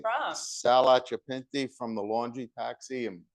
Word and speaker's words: Occhipinti: it's actually Occhipinti, Okay, but Pinti. in America they say Occhipinti.